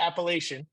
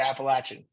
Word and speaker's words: Appalachian: Appalachian Mountains, right? It's Uh, not. It's not the Appalachian. It's the Appalachian.